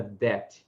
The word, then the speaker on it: debt: Então, repare que a palavra debt e a palavra doubt, nelas o B é mudo.